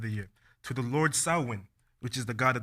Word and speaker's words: Samhain: It's spelled Samhain, S-A-M-H-A-I-N, but it's pronounced Samhain.